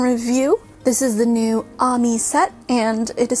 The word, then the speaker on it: AAMY: this is the new Ami set and it is spelled Amy with two A's but the Katakana is Ami so I'm gonna pronounce it that way because it's a Japanese artist and I feel like